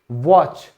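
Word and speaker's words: watch: घड़ी, वॉच, T silent क्योंकि CH की वजह से।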